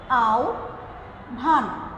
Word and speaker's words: আহ্বান: দেখো যে আহ্বান গল্পটি সংকলিত হয়েছে, আহ্বান গল্পটি আচ্ছা এটার উচ্চারণটা হবে হচ্ছে আহ্বান গল্পটি সংকলিত, আহ্বান গল্পটি সংকলিত হয়েছে বিভূতিভূষণ বন্দ্যোপাধ্যায়ের রচনাবলী থেকে।